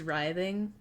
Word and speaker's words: writhing: I've never heard rithing pronounced the way you pronounce it. Writhing. Is it writhing? That feels weird. Twitching and writhing. Oh my god. Hi Hannah. It is writhing.